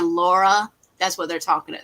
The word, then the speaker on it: Lara: So if you ever see any clips of it and you hear the person saying Laura, that's what they're talking about.